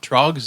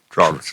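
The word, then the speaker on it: Tröegs: Trogs, Dave. Frogs. Trogs. Frogs. Trog. It's Trogs. Trog. I understand why I mispronounced that because, Oh, I forgot the little.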